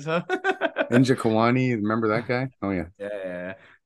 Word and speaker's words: Nzechukwu: I looked it up on Google, like how to say the name, and it said Nzechukwu, and then I heard a couple other guys, so I'm gonna go That with it. sounds right.